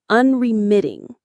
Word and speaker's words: unremitting: This brings us to a very powerful word, unremitting. Let's practice that one. Unremitting. Unremitting. The stress is on the third syllable. MIT. Unreiting. It has that strong t sound at the end.